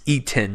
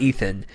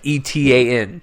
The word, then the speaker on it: Etan: It's Eaton, not Ethan. Like Etan.